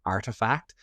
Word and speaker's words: ARTEFKT: It's called Artifact. It's spelled ARTEFKT.